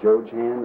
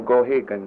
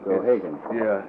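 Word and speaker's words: Geoghegan: And Joe Chan, is that how you pronounce that? No, Gohagan. Gohagan.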